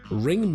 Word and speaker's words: Ringu: It's just how a Japanese person would pronounce it.